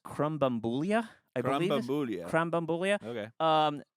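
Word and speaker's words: Krambambula: this online other than it's pronounced Crum bambula iulia CR bambula um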